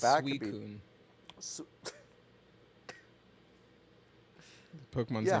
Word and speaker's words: Suicune: Final Fantasy, where the It's ones in the pronounced back could be. Suicune.